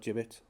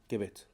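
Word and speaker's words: Gibbet: The A421 flying over the top towards Caxton Jib Gibbit, not Jibbit, Gibbit.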